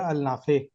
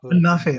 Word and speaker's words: Al Nafi: फिर बड़े भाई ने मशवरा दिया अल नाफे को आप अन्नाफे, अल्लाह ज्वाइन का नाम है अन्नाफे, अल नहीं है, अन है, नाम साइलेंट है।